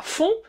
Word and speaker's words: fond: Ah, fond. Da wird das D nicht ausgesprochen bei fond.